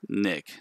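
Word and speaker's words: Nghik: I'm on LinkedIn at Nick. That's my last name is spelled N-G-H-I-K. So yeah, I hope this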